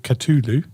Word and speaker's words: Cthulhu: the catulu mods octopus yeah or i say cthulhu but you can you can stay with katulu katuli because it's you know how you want to pronounce i mean are you mr mythology now